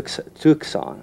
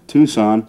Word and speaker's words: Tucson: had to ask the bartender if i'm into tuxon or how do you spell the okay okay we pronounce it tucson tucson but another way to call it if